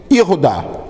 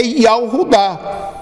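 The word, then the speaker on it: יהודה: Aí nós vamos ver que é pronunciado como, hoje já não se pronuncia em Israel Yahudá. Hoje em Israel se pronuncia Yehudá. Eles pronunciam assim justamente para não falar o nome que eles não querem falar. Entendi. Mas a pronúncia correta do nome Judá é Yahudá.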